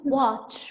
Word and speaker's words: watch: Watch. We say this watch. So this sound is a ch sound, not a sh. Yes, yes. There is a T before it.